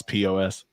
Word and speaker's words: Paz: of that name um so it's called pause pos pause as in like like stop is but i like pos better because that dude's coming